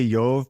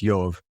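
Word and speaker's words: Ἰώβ: Yove, so he's so I'm going to say Yove because that's how it's pronounced in Greek. It would look like iota omega beta. And so it's Yove.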